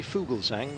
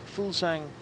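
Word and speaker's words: Fuglsang: Jakob full sang who apparently that's how you pronounce his name I asked him once um you can say Fugal Zhang which means bird song but foolsang is how he likes it yeah well that's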